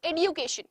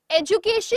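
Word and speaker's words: education: एडुकेशन, एजुकेशन एंड एडुकेशन। एजुकेशन इज द प्रोनाउंसिएशन of British accent और एडुकेशन जो है वो आपका अमेरिकन एक्सेंट है, जो आजकल में हम लोग एक्सेप्ट कर रहे हैं।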